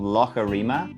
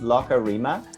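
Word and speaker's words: Loughareema: of the real lake so it's called lokarima and so it's that kind of words in ireland and scotland they call a lake a lot um so it's locker rima and um why it's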